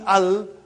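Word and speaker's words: ال: Every time you will see Al, you will read it Al, without vowel signs.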